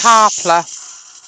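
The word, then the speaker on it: Qapla': It is pronounced Carpler. Carper. And it's Klingon for success.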